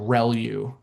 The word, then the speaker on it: ReLU: Um the the way you pronounce this is called relu.